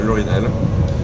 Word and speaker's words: Lauryn Hell: Et en fait on va rejoindre Laurinel qui joue pour les Paris Roller Girls.